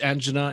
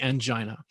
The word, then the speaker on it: angina: My term is angina, and others might say angina, really talking about the same thing.